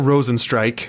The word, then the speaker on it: Rozenstruik: Jairzinho Rozenstruik, I actually know for a fact to pronounce that last name right, so boom, kudos to me.